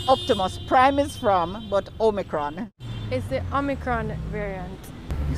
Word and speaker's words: omicron: like that i mean what's the pronunciation on a new variant a micron what makes it so sure that's how it's spelled o-m-i-c-r-o-n or micron it's the omicron variant you sound very positive